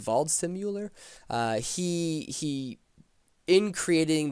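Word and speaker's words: Waldseemüller: a German cgrapher named Martin, I believe it's pronounced Valdimuer.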